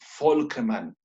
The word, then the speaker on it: Volkmann: Sí, mira, es que además del conducto o canal de Havers, existe el conducto o canal de Volkmann. ¿Ve cómo se escribe? V, doble N al final.